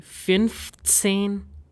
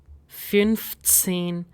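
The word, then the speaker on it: fünfzehn: Similarly 15 will be finane finene 18 will be oxen oxen number 19 will be nine.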